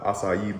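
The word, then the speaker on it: açaí: juices and stuff like maybe I have the acai Bowl yeah we said it right that time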